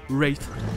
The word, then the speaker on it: Wraith: Et on retrouve aussi le TH pour Wraith, avec en plus un W qui est muet. Donc, Wraith.